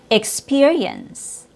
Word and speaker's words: experience: Experience. Spe is stressed. Ick is not.